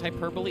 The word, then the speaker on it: hyperbole: Is it Greek? Is that why it's hyperbole? It's probably Greek. It's either Greek or Latin. I don't know which. You pronounce all the syllables in Greek.